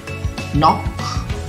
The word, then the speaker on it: knock: Knock itu ada KNOCK, ya. Namun K-nya di situ adalah silent letter, jadi tidak dibunyikan huruf K di situ. Jadi bacanya knock, ya.